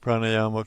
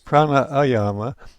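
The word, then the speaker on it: prāṇāyāma: made of two words, if the first word ends in A and the second word begins in A, one A is silent. So it is not pranayama, it's pran, which implies life force, and ayama, not controlled.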